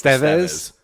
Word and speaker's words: Estevez: We Americanize shit because apparently it's Estevez?